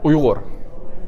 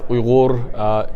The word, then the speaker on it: Uyghur: Uyghur. We pronounce it as Uyghur. Easier way would be Uyghur.